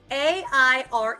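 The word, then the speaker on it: Aire: name is and it's a i r e it's pronounced air okay they've named their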